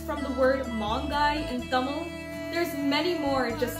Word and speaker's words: Tamil: For everyone who didn't know it's actually pronounced Tamil.